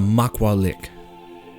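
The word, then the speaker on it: macuahuitl: the world Maka Maka it's called a MAA lick which is all right a MAA lick which is an Aztec weapon very cool even though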